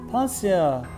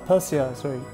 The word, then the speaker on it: Patyle: Then for Pasya, which as you can see, the spelling is P-A-T-Y-L-E, but when I look at the pronunciation, it goes nearer to Pasya, or Pasya.